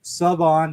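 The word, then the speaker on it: Shavon: And that's Savon. There's no H pronounced even though it's spelled with an H, kids. It's Savon Rell.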